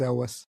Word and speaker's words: Elwes: Is it not Elwes? It is. It's Elwes. There it is.